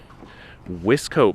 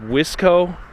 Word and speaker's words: Wiseco: this other one too i don't know if it's pronounced wisco or wiseco but when i was a teenager my friends who had dirt bikes they they pronounced it wizko you needed wisco pistons